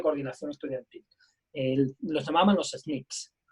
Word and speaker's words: SNCC: Los llamaban los SNCCs, se pronunciaba SNCC, SNCCs.